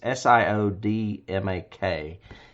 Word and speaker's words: Siodmak: I don't know how to pronounce his name, Kurt Siodmak. It's Siodmak.